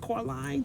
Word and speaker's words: Coraline: That's how you say it, Coraline, the movie.